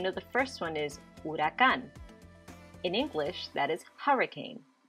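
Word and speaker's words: huracán: hammock what's the difference the h at the beginning in the spanish the h is silent we never hear it in english you hear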